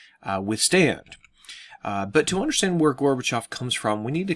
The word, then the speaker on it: Gorbachev: to really revolve around a man named Mikhail Gorbachev or Gorbachev some people pronounce it that way he's the guy who's